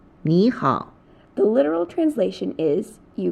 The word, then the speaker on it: 你好: When a third tone is followed by another third tone, the former is pronounced as the second tone.